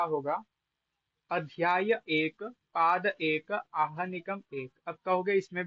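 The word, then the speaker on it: आह्निक: इस अर्थ में अहन शब्द से है प्रत्यय होकर आहनिक। देखो, आहनिक ये नहीं है, आहनिक। हल्का सा हकार के लिए मुख खोलना है, उच्चारण हो जाएगा, तब तक निक का उच्चारण कर देना। तो अर्ध का तो ऐसे ही उच्चारण होता है, आहनिक इत्यादि।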